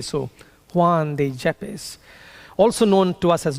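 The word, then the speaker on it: Juan de Yepes: So Juan depppes jeep in in in Spanish why is often pronounced as a J. So Juan de Jeppes also known to us as John of the cross was born in 1542.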